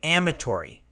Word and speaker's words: amatory: It's pronounced ma, tau, ri, with the stress on the first syllable.